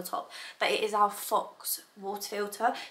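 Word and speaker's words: Phox: but it is our Fox water filter so it's spelled pH o x so Fox and it's basically a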